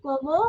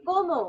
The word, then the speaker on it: comment: So I have already told you T is silent. Okay. So we do not need to pronounce T. So this will become como. Comment. Como.